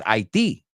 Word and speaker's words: Haiti: Now, I know you're thinking, Haiti? Like, ¿lo odias, Haiti? No, Haiti es como decimos Haití.